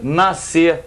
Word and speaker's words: nascer: Então o que eu faço? Não pronuncio o S, que são duas letras que valem por um fonema.